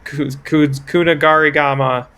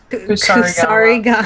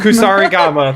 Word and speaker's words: Kusarigama: You wait until the deer are walking away, and then you stab all of them with the Kunagarigama. Kusarigama. Kusarigama, that's what it is.